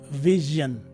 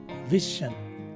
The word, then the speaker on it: vision: And also, the vowels I and O in the word are now replaced by a schwa sound. So this word is actually pronounced as vision as opposed to vision.